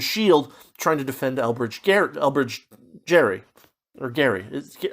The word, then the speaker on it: Gerry: trying to defend Elbridge Gerry. Or Gary. It's gerrymandering, but his name was actually pronounced Gary, I believe is the thing.